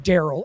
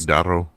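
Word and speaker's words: Darrow: And the entire time I thought the guy was saying Daryl and I just wasn't processing it correctly. He pronounces it like Daro.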